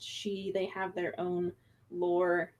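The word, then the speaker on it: sídhe: crowd the gentry um it is pronounced she as well as in scotland it's also pronounced she they have their own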